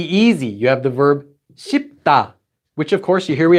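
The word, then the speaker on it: 쉽다: It's not sweep, that would be very difficult to say. It's just pronounced as shipta. So saying the word to be easy is actually quite easy. Shipta. They don't say shweepta or something weird like that.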